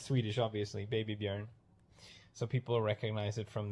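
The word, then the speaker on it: Björn: word letter I mean usually people say Bjorn like an O but it's a uh like yarn to put up one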